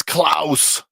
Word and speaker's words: Klaus: It is Klaus, the Germanic pronunciation.